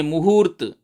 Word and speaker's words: मुहूर्त: उच्चारण ठीक करिए, मुहूर्त। जब आप उच्चारण करेंगे मुहूर्त तो लिखा भी जाएगा मुहूर्त।